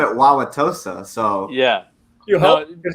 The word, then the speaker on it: Wauwatosa: Louis and stuff with Brandon Biondo, and I'm also doing the one of the PBA youth events up in Wauwatosa, Wisconsin. That's how you pronounce it, Justin.